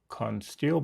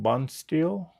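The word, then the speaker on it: Bonesteel: Um, sorry, Consteil. Bonsteel, sorry, I think I mispronounced it a minute ago.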